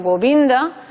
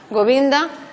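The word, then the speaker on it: गोविन्द: de reglas, por ejemplo, cuando la penúltima sílaba tiene vocal breve más dos consonantes, también se acentuaría. Por ejemplo, Govinda, Govinda, la penúltima sílaba tiene una vocal breve, pero seguida de dos consonantes. Entonces también se pronunciaría Govinda, ¿eh?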